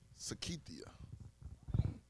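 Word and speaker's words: Cykethia: I'mma say her name her name is Sakia s it's spelled c y k e t h i a I don't know what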